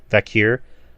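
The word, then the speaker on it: Vaquer: Mercedes Moné versus Stephanie Vacker. Is that how you say her name? Vakir.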